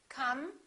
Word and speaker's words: come: We have an M at the end of the word come. The E after the M is silent. Therefore, the M is the last sound, and it's a consonant.